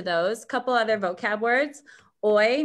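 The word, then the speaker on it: hoy: couple other vocab words oy means today and remember h's we don't pronounce in spanish similar to ola manana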